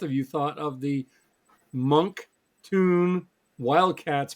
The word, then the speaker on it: Moncton: Moncton is 3 syllables. Monk Tune. Monk Tune. So it's Tune, Monk like a tune, Tune. like cartoon.